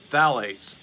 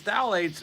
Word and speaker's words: phthalates: and it's full of something else it's called phthalates and it's that's spelled p phth anyway uh and these things